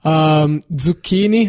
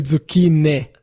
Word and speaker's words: zucchini: five for sure panini zucchini that's another big one it's actually tsuki Nick ah oh yeah and